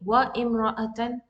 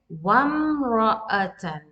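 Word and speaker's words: وامرأة: Here, did I read wa imra'atan? No, I read wamra'atan. My sound was connecting with the meme, and I skipped totally the hamzatul wasl here.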